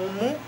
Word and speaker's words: mu: atención se le conoce como mu o Como miu algunos autores lo conocen como mio o lo pronuncian Así es esta letra y